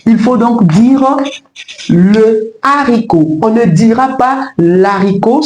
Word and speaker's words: haricot: Commençons avec le premier mot haricot. Puisque la consonne H en initial de ce mot est aspirée, nous ne devons pas élarticle le Il faut donc dire le haricot.